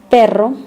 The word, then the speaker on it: perro: Pero, that means bad, and perro, that means dog. To pronounce the double R sound properly, English speakers need to learn to trill your R's.